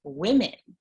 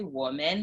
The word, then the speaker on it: women: w-o-m-e-n means we yeah but then woman plural on the page in english is pronounced women yes and so i i would always say woman like woman yeah and i i had to be like women there was we had